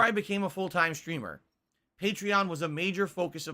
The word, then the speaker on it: Patreon: I guess they actually pronounce it Patreon, even though it makes no sense.